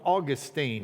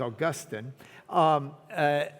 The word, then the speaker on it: Augustine: And Augustine of Hippo, if you really want to know how to say his name and not sound like you're from Lubbock, it's Augustine.